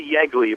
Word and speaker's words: Yeagley: last name correct uh it's actually yly but it's often often mispronounced so it's it's uh